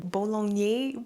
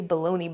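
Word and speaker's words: Boulogne: is the Lord pronunciation bolog bag I always say baloney bag but that's not what it is I have liked this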